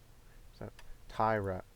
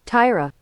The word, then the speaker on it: Taira: his name let's look it up really quick Tyra Tyra okay good I'm not an idiot then okay